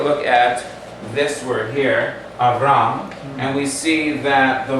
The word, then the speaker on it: Avram: The first letter, Aleph, is a silent letter, so we need to know how to sound it. The line underneath called a patach actually gives us a medium length A sound, A.